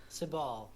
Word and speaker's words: Sabal: Sabal. Yeah, that's how you pronounce it.